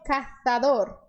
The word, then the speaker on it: cazador: Nesse caso, o Z não tem som de S, mas sim tem esse som de TH que é produzido quando nós colocamos a língua entre os dentes. Então eles diriam cazador.